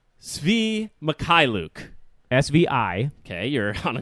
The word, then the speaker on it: Mikhailiuk: I watched a YouTube video on how to pronounce his last name. Oh, okay, very good. Mikhailiuk.